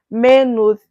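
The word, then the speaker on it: Maynooth: a y n n o o t h manood University scholarship so men University scholarship are partially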